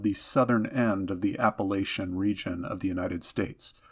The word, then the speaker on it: Appalachian: southern end of the Appalachian region of the United States. I know some people pronounce it Appalachian. Whatever you want to do for your pronunciation is fine with me.